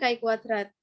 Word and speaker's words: chi-kuadrat: Yang pertama mengenai pengertian Kai kuadrat nah tulisannya yaitu chi-kuadrat namun dibacanya kwadrat adalah sebuah uji hipotesis